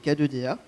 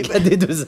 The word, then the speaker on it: KD2A: donc il s'agissait de K2DA. qui était sur France 2. K2DA, c'est pas un détachant, ça. Non, non, c'est KD2A.